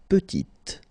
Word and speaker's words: petite: Il est petit, elle est petite. Okay, exactly the same idea. Final T is not pronounced, and then when you add this E at the end, you get the sound T, petite.